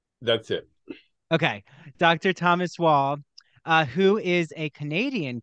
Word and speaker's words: Waugh: can get it so Dr Thomas whoa okay oh just like the uh British writer that's it okay Dr Thomas wall uh who is a